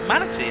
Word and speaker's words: Manatee: When I see the liveries when I'm in races, I think it's Manti. No, it's Manatee.